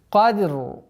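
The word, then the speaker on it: قدر: Каф твердый звук, даль мягкий звук, но однако есть калькаля. Ара при остановке уходит, здесь огласовка уходит, становится сукуном, она твердое произношение. То есть кадр.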